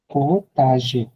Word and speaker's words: potager: et arrose légumes dans la la potager potager, potager মানে টি আবার উচ্চারণ হয় না।